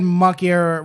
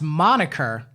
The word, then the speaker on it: moniker: like you know and the word muckier was supposed to mean like it's iconic of a thing right turns out it's pronounced moniker awesome i don't remember this at all right and so the so the girl i was with at the time at dinner goes it's moniker you and